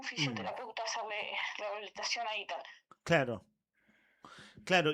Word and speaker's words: Ethan: Hay un alias, ya lo vamos a detallar varias veces, que es todo por Ethan, y Ethan se escribe E-T-H-A-N, ¿no es cierto?